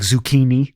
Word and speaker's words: Zecchin: so hi hello your last name is spelled z-e-c-c-h-i-n it's pronounced zucchini that's weird sounds like zucchini yeah so what um